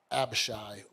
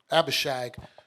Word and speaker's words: Abishag: And then she said, give your brother Abishai, let me say her name right, Abishag to Adonijah.